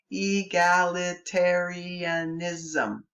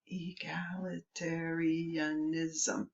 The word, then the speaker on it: egalitarianism: Egalitarianism. Egalitarianism. 8 syllables in one word.